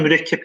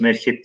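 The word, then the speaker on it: مركب: Evet, İhsan Hocam, mürekkep kelimesi sizin de okuduğunuz gibi gayet rahat merkep diye okunur. Fakat burada cümlenin gidişatından siyak sibak ilişkisinden ne okuyacağız onu? Mürekkep diye okuyacağız.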